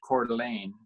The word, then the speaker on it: Coeur d'Alene: Coeur d'Alene Lake is where my office is at, pronounced Coeur d'Alene.